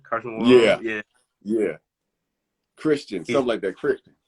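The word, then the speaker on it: Karsten Warholm: Carson Warholm, is that how you pronounce his name? Carson Warholm.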